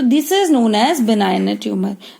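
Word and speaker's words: benign: आर, पहला होगा हमारा बिनाइन ट्यूमर, बिनाइन ट्यूमर, जी साइलेंट होता है बेटा, बिनाइन ट्यूमर।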